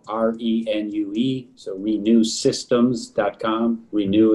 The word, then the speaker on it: Renue: Renew is in like renew your venue.